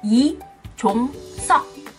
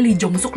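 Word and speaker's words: Lee Jong-suk: Seperti tadi aku bilang, marganya yang benar adalah I, bukan Lee. Terus belakangnya bukan suk, tapi sok. I, Jong, Sok. Nah, pasti banyak yang juga, ya ampun, selama ini gue panggilnya Lee Jong Suk, Lee Jong Suk.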